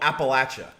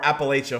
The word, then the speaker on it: Appalachia: else and it's actually in a place called Appalachia or Appalachia however you want to pronounce it it's in the Tennessee West Virginia